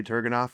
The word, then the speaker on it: Turgenev: I heard someone in here earlier saying the proper pronunciation was one of you guys. Turgenev. Yeah, it was. Yeah. I'm going to say Turgenev, and we'll go from there.